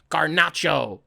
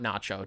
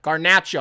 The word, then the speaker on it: Garnacho: Garnacho. Not Nacho. Don't do that. Garnacho.